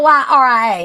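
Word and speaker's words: Elyria: E L Y R I A. How do you pronounce it? Yria. Eyria.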